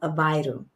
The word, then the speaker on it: Aveiro: So for instance, we just came back from a small town called Aveiro. Up there, they say Aveiro. Aveiro. But Lisboans pronounce it Aveiro. And if you saw it, you'd say Aveiro or Aveiro.